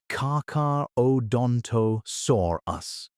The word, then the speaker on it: Carcharodontosaurus: Walking the banks was Carcharodontosaurus, pronounced Car-Car-O-donto-saurus, a land predator about